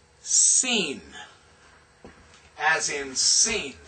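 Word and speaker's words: Sin: This is this is pronounced seen as in seen.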